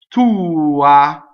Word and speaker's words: tua: Tua, right? The accent is on the U, but notice that the A is not the accented, but it's not neutralized, right? So tua, not tua.